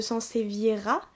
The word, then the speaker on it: Sansevieria: Alors évidemment, il y a plusieurs sortes de Sansevieria, là je le prononce correctement.